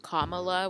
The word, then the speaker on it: Kamala: to shout both of you out for saying kamala which is how her name is pronounced so what are you hearing and not